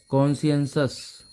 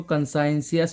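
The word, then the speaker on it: conscientious: इसका प्रोनाउंसिएशन है कॉन्शियस, कॉन्शियंसस। क्या हुआ है? कॉन्शियंसस। कई लोग इसको कंसाइंसियस पढ़ लेते हैं, वो गलत है इसका प्रोनाउंसिएशन।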